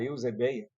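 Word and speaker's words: εὐσέβεια: E do grego, como veremos mais adiante, a palavra eusebeia, pronunciada assim para ficar mais fácil de entender, significa reverência ou mais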